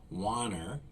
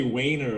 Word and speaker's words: Wanner: guest today is wanner did I pronounce that correctly you did good job that's pretty rare for me a lot of people say weiner I'm like what word